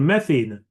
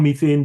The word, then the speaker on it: methane: But there's also another greenhouse gas called methane, or methane, depending on how you pronounce it, methane.